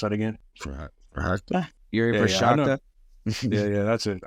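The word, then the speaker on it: Procházka: Yuri Prochazka.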